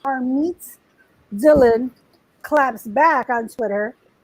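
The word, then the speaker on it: Harmeet: harmed her meat her name her name is pronounced har meets dylan claps back on twitter and says like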